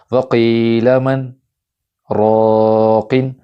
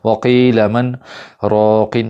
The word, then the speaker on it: وَقِيلَ مَنْ رَاقٍ: لفظ آپ دیکھ لیں وَقِيلَ مَنْ رَاقٍ۔ اب اس میں سکتہ کیسے کرنا ہے غور سے سنیے گا۔ وَقِيلَ مَنْ رَاقٍ، سکتہ ایسے ہوتا ہے۔ اگر ایسے میں کروں وَقِيلَ مَنْ رَاقٍ تو ایسے غلط ہو